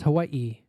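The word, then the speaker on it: Hawaiʻi: Island I learned that the true name of the island was Hawai the commaik symbol in the name was called an okina and it denoted a brief pause in pronunciation I would need to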